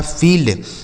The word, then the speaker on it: field: से ल हो गया, डी से ड, लिखा फील्ड, FIELD फील्ड। SHIELD तो SH से हो गया बड़ा सा, IE का उच्चारण बड़ी की मात्रा, L से ल और D से ड, लिखा गया है सील्ड।